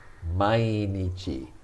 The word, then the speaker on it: mainichi: not begin with now this is not m a e which means in front of it's mai mainichi and nietzsche means day we're